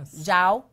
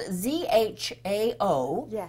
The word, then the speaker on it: Zhao: It's spelled Z-H-A-O, which is Chinese, and this is how I wrote it phonetically, J-Z-O-W, and it came out right. That's she said phonetics. Earlier, before we started, she said, what did you say, combine the Z and the J.